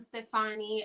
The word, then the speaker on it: Stefani: Hello, I am Stefani. It's pronounced Stefani like Gwen Stefani.